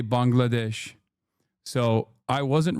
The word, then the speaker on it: Bangladesh: Now Turks are saying Turks used to say Bengalesh and now they say Bangladesh. So I wasn't wrong. Turks used to mispronounce it and because I'm 33 years old and an old man.